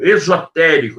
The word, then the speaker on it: esotérico: Existem duas palavras com a mesma pronúncia, né? Esotérico, com S, esotérico, e existe esotérico com X, ok?